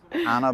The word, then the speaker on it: Anna: Cuz my name's Anna and rhymes with banana.